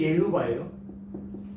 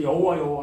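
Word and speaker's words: יהוה: 이게 발음은 이제 예흐바예요. 예흐바. 근데 이걸 이제 우리나라에서 여호와 하는 거예요.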